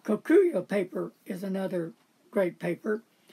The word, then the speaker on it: Kokuyo: Also, there's some, how do you say with a K, Koyoko? Kokuyo. Kokuyo paper is another great paper.